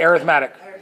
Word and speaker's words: arithmetic: called arithmetic everybody say arithmetic it looks like a rhythmic tick but it's arithmetic it depends on you